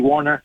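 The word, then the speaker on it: Woerner: Warner 89 it's pronounced it's spelled like Warner but it's Charley Warner yep he's a blocker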